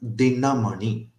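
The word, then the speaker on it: दिनमणि: For example, if we take the word dinamani, all the four characters here are laghu, short syllables. Di, short, na, short, ma, short, ni, short. So all the four are short syllables.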